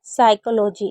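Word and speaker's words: psychology: यहां पर हम जानेंगे पीएस अगर कभी भी साथ में होगा तो पी को नहीं पढ़ेंगे। जैसे साइकोलॉजी इसमें पी साइलेंट है और शडन मीन और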